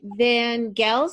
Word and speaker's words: Van Gels: Is that how you pronounce it? Yes, that is how you pronounce it. You're Yes. one of the first people to pronounce it correctly the first time. Well, I heard you say it. I heard you say your name because I would have made it a soft G.